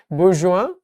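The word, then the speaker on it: bourgeois: আর ইংরেজি বুর্জুয়াইস নাকি জানি বলে, বাট আসলে হচ্ছে বুর্জোয়া, বিদেশি শব্দ, বিদেশের মতো করে।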